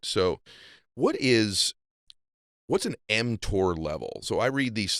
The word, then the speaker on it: mTOR: Yeah, you're pronouncing it correctly. It's called mTOR. Okay. M stands for mammalian, and TOR is target of rapamycin, a drug that extends lifespan.